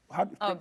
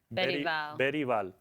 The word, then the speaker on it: Bergvall: Bergvall. Bergvall. Pronounce the name again? Bergvall. Bergvall. It's not with a Spanish accent, Alex. Everything Alex says is with this. Bergvall. He's Swedish.